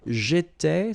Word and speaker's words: j'étais: J'étais, so final S not pronounced.